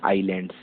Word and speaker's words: islands: Spelling होती है ISLANDS, बट बोलते हैं आइलैंड्स, एस साइलेंट रहता है।